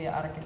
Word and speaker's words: Arket: But as a brand, the pronunciation would be Arket.